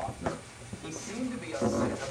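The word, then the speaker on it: Loughner: It's L-O-U-G-H-N-E-R, Lochner or Lochner.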